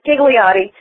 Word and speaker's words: Ghigliotti: throws everybody off and basically that H is very silent okay it's G it's giggly ATI gotcha and you're you're